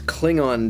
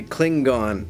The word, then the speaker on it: Klingon: him with predictable results everyone in this episode seems to pronounce Klingon differently some people say Klingon and some others say Kling gone also McCoy accidentally makes